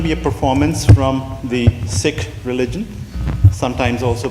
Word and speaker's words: Sikh: is going to be a performance from the Sikh religion sometimes also pronounced Sikh the actor pronunciation is sik sik H the